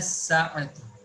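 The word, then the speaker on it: الساعة: Wa aina sa'atu. Wa aina sa'atu. Wa, where is the watch? Now see, wa aina sa'atu. Here alif lam has been omitted while pronunciation, because seam of as-sa'atu is from hurufu shamsiyah, and huruful qamariyah was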